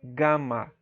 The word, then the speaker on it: gama: Apesar de existir uma letra que é equivalente ao nosso G, mas não existe o som de gelo, e sim de gato, tá? Gama.